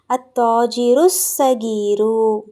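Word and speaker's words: التاجر الصغير: சொல்றதா இருந்தா எப்படி சொல்லணும் அத்தாஜிருசகீரு அத்தாஜிருசகீரு சரிங்களா இதே கபீரு போட்டுருந்தீங்கன்னா அத்தாஜிருல் கபீரு அப்படின்னு வந்திருக்கும் இத சகீருன்னு போடுறதா இருந்தா அத்தாஜிருசகீரு ஓகேங்களா ஏன் சுவாது வந்து என்ன எழுத்து ஷம்சியாவுடைய எழுத்து அப்போ லாம் உச்சரிக்கப்படக்கூடாது ஓகேங்களா சிறிய வியாபாரி ரைட் இப்ப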